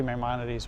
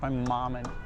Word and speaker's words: Maimonides: I always say Maimonides, but it's Maimonides.